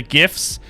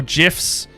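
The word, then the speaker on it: Giff: this is a ship from the gifts or gifs they've literally let you pronounce it either way you want but yeah this is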